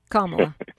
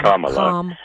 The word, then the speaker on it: Kamala: And so, Kamala was a part of the Biden administration as Kamala. It rhymes with mom. Kamala. Rhymes with small.